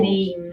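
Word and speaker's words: בנים: And then the And then the plural banim, banim, Banim. So again, we have this change from a long A to a short A, Banim, right?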